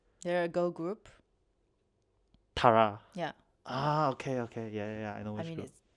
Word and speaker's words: Tiara: Tara. Yeah. Okay. Yeah. I know which I mean, group. it's Tiara, but fine. But it's spelled as T-A-R-A, right? No. T-A-R-A. Yeah. That's yeah. okay. Yeah. I mean, the crown, Yeah, Tiara.